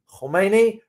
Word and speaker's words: Khomeini: not Khamenei, Ali Khomeini, there's a pronunciation there, Khomeini versus Khamenei. The current supreme leader, the current spiritual leader is Ali Khamenei. The previous one, the late, is Ali Khomeini.